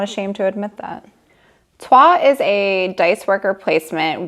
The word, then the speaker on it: Troyes: Yes, I had to look up how to pronounce that, and I'm not ashamed to admit that. Troyes is a dice worker placement where you start